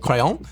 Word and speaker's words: crayon: And in this case, the Brits do stick to a pronunciation much closer to its French origins. But in America, it can be basically like crayon but with an apostrophe.